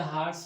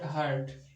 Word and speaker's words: heart: But in the hearts of all those who lived, देखिए this is heart, not hurt. Most of the students and even teachers pronounce it as hurt, लेकिन आप ध्यान रखिए ये heart है।